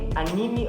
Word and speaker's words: anime: nós temos também os anime ou anime, não importa qual que é a pronúncia, que as duas estão corretíssimas, tá bom?